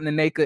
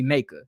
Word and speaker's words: Nneka: name by the way it's not nanaka is really naked you just it's it's like an A but it's like got two ends in front of it and it's an e